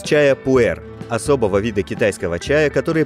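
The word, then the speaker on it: 普洱: в себя процессы ферментации китайское название произносится как пуэр что буквально значит чай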